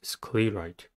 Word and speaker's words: sclerite: The next word is sclerite. Sclerite has two syllables and the stress is at the first one.